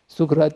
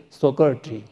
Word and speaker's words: Socrates: story of the sukrat sukrat is our Hindi pronunciation your English says Socrates and he was pronounced